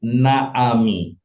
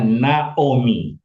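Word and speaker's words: נעמי: Nah, ini bunyinya bukan ini bacanya bukan Naami. Ini bacanya Naomi.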